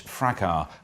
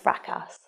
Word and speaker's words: fracas: I think you'll find it's pronounced fracas. It's fracas. No, it really is pronounced. There's an S, it's fracas. It comes from the French, you don't say yeah, the but last we're not it's fucking fracas. French, are we?